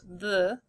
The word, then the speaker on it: the: And the starts with a hard digraph, th, the, and for the E.